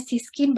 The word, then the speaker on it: CYSKIN: Siskin ya, bacanya Siskin by Kalista Skin Clinic.